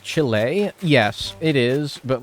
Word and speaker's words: Chile: an uncultured American that I say chili instead of Chile or Chile yes I'm aware I'm